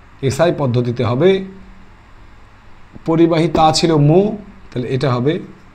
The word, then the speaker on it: mho: মো। 1/ওহম, that is মো, MHO। এটাকে কি বলা হয় উচ্চারণ? মো।